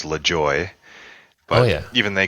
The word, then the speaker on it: Lajoie: Oh, the Americans like to say Lajoie. The Germans do as well. The French, of course, say it like you did, like Lajoie. If I said it in my home country, it was Lajoie.